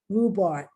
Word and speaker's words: rhubarb: ghost or in tough, but the silent H is with the R, RH. Let me share my screen with you. Here we go. Silent letters in English, the silent H. Rhythm, rhubarb.